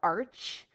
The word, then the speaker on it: arch: means water all right this looks like it's spelled Arch but it's technically pronounced Arc we don't say the